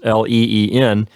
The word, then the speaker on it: leen: And then our ending, our personal ending is EN for the third person plural, so that gives us LEEN as our third person plural form.